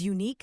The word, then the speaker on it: unique: Because unique sounds like unique. Mr. Thompson's eyes lit up. Exactly. Unique starts with a Y sound, which is a consonant sound.